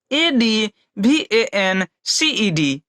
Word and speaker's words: advanced: हम लोग डी जोड़ देते हैं तब इसका उच्चारण अलग हो जाता है। कैसे ADVANCED, क्या एडवांस के साथ हम लोग क्या जोड़े